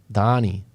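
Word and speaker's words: Dani: Danny or Danny? Danny with an I? Donnie. That's the pronunciation.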